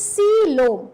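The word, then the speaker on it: coelom: the 11th class students they don't know how to pronounce it or something else they are pronouncing it so beta it is C Lo okay just remember this C and then this low okay this is the pronunciation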